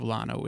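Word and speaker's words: Llano: The unincorporated community of Lano is pronounced with an L despite its Spanish origin.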